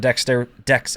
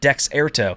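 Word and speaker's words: Dexerto: out she was hurt Dexter decks why do I keep saying it wrong Dex air toe it's such a dumb word don't name it dexarto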